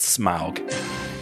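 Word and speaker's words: Smaug: you're gonna pronounce it I'm gonna go smoke SMA ug I too would pronounce it smog that is the right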